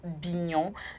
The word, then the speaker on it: Bignon: Aujourd'hui, nous allons nous intéresser à un prénom Bignon. Bignon qui s'écrit B-I-G-N-O-N.